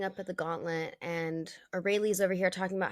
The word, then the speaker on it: Aurelie: Aurelie? I say orally, like Aurora, Oh, like Aurora, but orally?